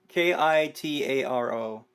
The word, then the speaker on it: Kitaro: uh kotaro uh you're gonna have to spell it for me okay yeah k-i-t-a-r-o okay Kitaro I wasn't sure if it was